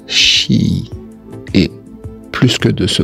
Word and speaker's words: chi: Ce X qui se prononce avec le souffle d'un battement d'aile d'un papillon et se prononce chi.